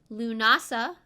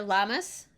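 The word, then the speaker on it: Lughnasadh: solstice after that is lunasa which some people call it les mis or llamas sometimes people call llamas as if the animal just because it's kind of funny and silly and lunasa is celebrated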